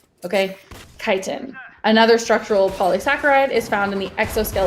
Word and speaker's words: chitin: looks like it's pronounced chitin but it's pronounced kiten like go fly a kite okay kiten another structural polysaccharide is